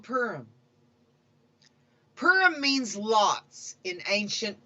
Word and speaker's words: Purim: out his diabolical scheme you can pronounce this name many ways in eastern tradition it is called purim purim among westerners it is often called paroum some central european communities even call it p room warning calling this holiday